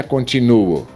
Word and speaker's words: continuo: Porque, se você diz contínuo ou é continuo, veja só, aqui como você pronuncia contínuo ou continuo. Aqui é o continuo e embaixo é o contínuo.